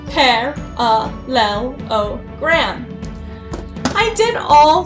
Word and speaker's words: parallelogram: So one thing that I did is I first said parallelogram, so they could see that it's 5 syllables.